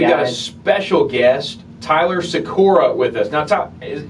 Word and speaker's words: Sykora: brock and we've got a special guest tyler sakura with us now tom is am i pronouncing that last name right you are yeah